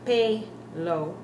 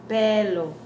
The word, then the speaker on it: pelo: Notice we're not saying pelo. Remember our E's, how they're supposed to be pronounced? It's pelo.